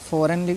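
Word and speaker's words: foreign: फॉर गन पढ़ते हैं फॉरेन फॉरन पढ़ते हैं इसको जबक फॉरेन लिखा हुआ है फॉरेन ठीक है तो आपको यह ध्यान रखना है ठीक है इसको नहीं जी का उच्चारण नहीं करना है आपको क्यों क्योंकि एन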